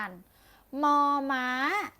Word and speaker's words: มอ ม้า: เสียง มอ ม้า กัน มอ ม้า ออก เสียง ว่า More อามอ มอ มอ มอ ตัว ต่อ ไป ค่ะ